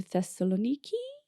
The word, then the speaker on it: Thessaloniki: It's crazy, but tomorrow me and Janine are going to Thessaloniki.